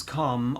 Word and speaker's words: calm: r effectively in farm so calm and farm are exactly the same my ma is calm